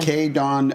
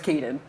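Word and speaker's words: Kaydon: Kay Don Austin, it says. Yeah, but it's Kaden.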